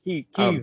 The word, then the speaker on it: Kyiv: Kyiv is the way they prefer it to be pronounced. So if I heard a Ukrainian say it, it would sound like Kyiv.